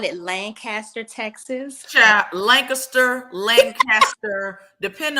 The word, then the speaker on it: Lancaster: from the DFW area you grew up hearing it being pronounced Lancaster if you're from Lancaster Pennsylvania or Lancaster California you guys cringe when we say Lancaster well sorry that's how